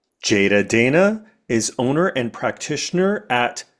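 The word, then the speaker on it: Jeyda Deyna: So, my own social media is Jada Dana.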